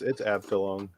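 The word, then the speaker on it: Abteilung: Abtulung. Abtilung. Of course, if it's German, we're probably way off with the pronunciation. Yeah. It's probably a chew. No, it's Abtilung.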